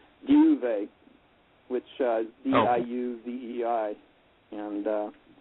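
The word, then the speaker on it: Diuvei: that's and um i have a equally unpronounceable craft name which is a magical name duvet which is d-i-u-v-e-i and uh that's um i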